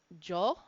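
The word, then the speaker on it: 女: The kanji reading for woman is jo, okay? And you don't have to type out the Y-O here, because if you just type out J-O, it puts it in the way that it's supposed to be written in kana, okay?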